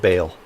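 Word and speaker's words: Baal: bale's legion or ball it's b-a-a-l but i think it's pronounced bail what's up with murder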